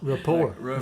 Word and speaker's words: rapport: Report. The T be silent.